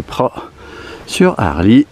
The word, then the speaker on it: Praz-sur-Arly: c'était les arabis alors le Z normalement on le prononce pas donc c'est pr sur Harley et qu'est-ce que j'allais